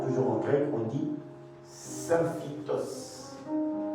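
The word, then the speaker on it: σύμφυτος: Il y a toujours dans ce mot-là, toujours en grec, on dit symphytos. Symphytos ou symphytos. Ça dépend des prononciations.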